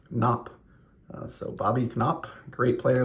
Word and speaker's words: Knoop: Bobby Knopp, who I thought you would have pronounced Knoop or Noop, but learned recently, thanks to my buddy Bass is Beautiful here on YouTube, that it's actually pronounced Knopp.